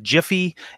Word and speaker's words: Giphy: of things, anything from Jiffy, and yes, I do say Jiffy instead of Giphy. They're GIFs because the announcer or the creator gets to determine how it's pronounced, I guess.